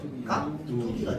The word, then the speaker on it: 깍두기: 근데 발음하면 어떻게 되는데? 깍두기가 됩니다. 맞죠? 자, 그러니까 뚜로 발음이 돼.